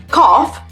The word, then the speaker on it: cough: bit of a cough cough it sounds like off but it's spelled c--